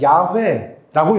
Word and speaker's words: 여호와: 그것처럼 하나님은 하나님이신데 하나님의 성함이 있다면 여호와라고 말할 수가 있어요. 이 여호와라는 말을 다르게 읽으면 야훼라고 읽을 수도 있어요. 그래서 야훼랑 여호와는 똑같은 말이에요.